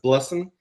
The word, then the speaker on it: Blessn: It's Blessn. It sounds like the word blessing if you were a Southerner in America.